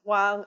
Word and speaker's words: Wang: for example, like Wang, my husband's last name is Wang. Okay, that rhymes with tongue.